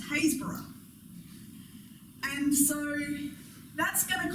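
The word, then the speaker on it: Happisburgh: that to look at you might think was happysburg it's a very happy place perhaps except that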